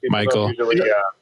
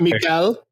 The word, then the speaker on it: Michael: It's pretty easy to pronounce. Michael. It's not Mikael.